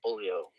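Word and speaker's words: Boolio: and r2 yeah yeah and then the character bullio and that's how you say his name because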